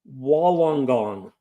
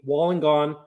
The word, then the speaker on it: Wollongong: 4%, 5-barrel brewing from, oh my goodness, I cannot pronounce that. It's a place in Australia called Wollongong. How's that? Wollongong. Wollongong, New South Wales.